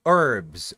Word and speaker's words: herbs: crimes and sins and in English the H is silent in herbs you say herbs herbs ah why because